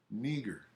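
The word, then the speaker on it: Νίγερ: Right here it says phonetic spelling. Tells you how to say it. Niger.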